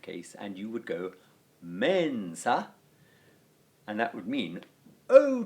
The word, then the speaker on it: mensa: And that, in the case of mensa, would be that form, mensa, with a short a at the end of the word.